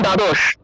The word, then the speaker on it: দ্বাদশ: তারপর দেখুন দ্বাদশ, এই দ্বাদশ শব্দটা, এই দ্বাদশ শব্দের ক্ষেত্রে উচ্চারণটা হবে দ্বাদশ, দ্বাদশ, কারণ দ্বয়ের নিচে বফল থাকায় উচ্চারণটা হবে দুয়, উচ্চারণটা হবে দুয়।